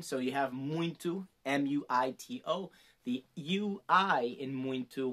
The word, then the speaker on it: muito: that into the t it does kind of seem to have a little bit of an n sound but just know it's